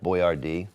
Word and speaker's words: Boyardee: of all time is going to be Chef Boyardee. Chef Boyardee. Chef Boyardee Boyardee. Oh, I knew you would know the correct pronunciation.